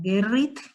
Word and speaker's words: Gerrit: Gerrit se escribe G de gato, E-R-R-I-T, como Gerrit, ¿sí?